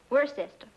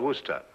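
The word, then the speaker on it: Worcester: something else too doc but it's spelled w r c e s t e r where sister oh yes I see yes Lord Worster mhm his M be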